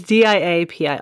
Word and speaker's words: diapir: I think it's diapir, but literally it's not spelled like diaper, but I was going to pronounce it diaper. It's diapir.